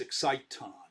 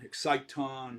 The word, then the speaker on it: exciton: uh and that's why it should be really pronounced exciton i like that better it also rhymes with phonon and uh photon exciton right they're all that's